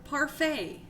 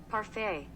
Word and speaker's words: parfait: parfait, right? We're looking it up. I'm sorry. I have to say it right, or I feel weird. Okay, y'all ready? Here. Parfait.